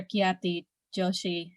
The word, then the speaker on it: Khyati Joshi: carol please yes white christian privilege by professor kiyati joshi is that the correct pronunciation or your surname oh it's definitely on